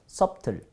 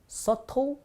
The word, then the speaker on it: subtle: 밑에니까 sub, 그 다음에 tul 해서 subtle, no, subtle, 슬랍을 주면 subtle. 여기에 보면요, 묵음 철자가 두 개가 있는데 B가 묵음이고요.